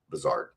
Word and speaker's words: Buzhardt: her senior season, and all season long I had pronounced her name correctly, Buzzard, and then for whatever